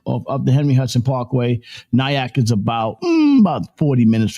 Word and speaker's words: Nyack: Nyak. Nyak.